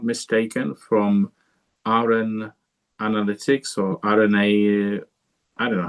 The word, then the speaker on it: RNAnalytics: Let's now invite Victoria, if I'm not mistaken, from RNAnalytics or RNA, I don't know how to pronounce that. Probably Victoria will help me to get this right. Is it RNAnalytics?